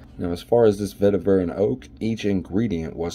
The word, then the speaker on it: vetiver: so first of all or vetiver rather not vetera but uh vetiver and oak i think that's how to pronounce it i'm not even actually